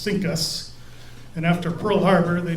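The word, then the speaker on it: CINCUS: the US fleet was abbreviated C I N C US and pronounced Sinus and after Pearl Harbor,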